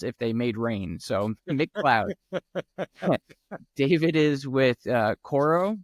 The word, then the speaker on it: McLeod: here and as he described it it is pronounced as McDonald's if they made rain so McCloud David is with uh cororo cyber security I'll